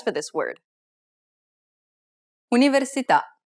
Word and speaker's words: università: Università. The accent is on the vowel at the end of the word, so the answer is the last syllable.